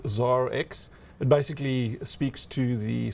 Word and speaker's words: ZARX: perceived as a nightclub you got it right the first time around it is zara x it basically speaks to